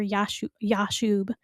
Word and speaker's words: Jashub: Usually it's a Y sound, Yob or Yashub, of the Jashubite clan.